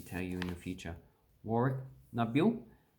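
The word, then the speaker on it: Warracknabeal: Warrak Nabil. And that's pretty much pronounced how it actually looks. So Warrak Nabil.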